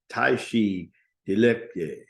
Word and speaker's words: Tashi Deleki: Tashi Deleki. So it almost sounds like Tai Chi when you think about it.